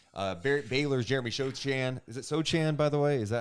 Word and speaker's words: Sochan: Is it Sochan, by the way? Is that how you say it? Sochan.